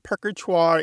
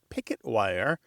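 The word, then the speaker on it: Purgatoire: Um, perker is the official name on maps, but pickwire is a living local pronunciation that folks still use.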